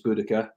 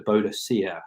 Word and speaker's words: Boudica: I left high school, it was changed to Boudica, which is the Celtic pronunciation, as it was felt that the Roman pronunciation was wrong.